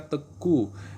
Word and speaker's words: Teuku: kalau kalau Aceh tuh Teuku ya Teuku bacanya teku itu yang laki-laki kalau perempuannya Cut nah